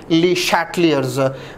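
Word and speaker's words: Le Chatelier: State the ली शॉटलेर principal, बाज़ लोग ली शॉटलेर कहते हैं, so this is the correct pronunciation is ली शॉटलेर्स।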